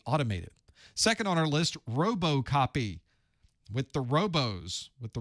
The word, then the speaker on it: RoboCopy: Second on our list, RoboCopy. With the robos, with the robots. Is it it's not robot. It's robust. It's robust copy, although not really spelled like robust, but there we are.